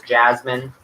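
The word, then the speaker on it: Jazmin: Her name is Jasmine. That's because after the flower, but not spelled like the flower. It's spelled J-A-Z-M-I-N.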